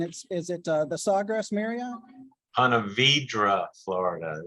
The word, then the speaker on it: Ponte Vedra: I believe it's in Ponte Verde, Florida, and is it the Sawgrass Marriott? Ponte Vedra, Florida. That's a Florida pronunciation.